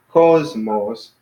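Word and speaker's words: κόσμος: and stuff so cosmos so it's on the first syllable is two syllables cause most so Kappa Omicron Sigma mu Omicron Sigma so that's the two syllable so the first one call is enormous so it's kind of emphatic on the first civil cosmos so that means world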